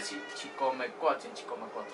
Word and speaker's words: Chicomecoatl: Bueno, esta es Chicomecoatl. ¿Ok? Que en náhuatl se pronuncia Chicomecoatl.